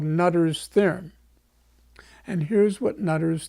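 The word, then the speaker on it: Noether: a wonderful mathematician named Emmy nutter it's spelled noe th ER so and she was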